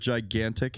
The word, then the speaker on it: gigantic: Do you ever notice that the word gigantic has 2 G's in it that are pronounced completely different?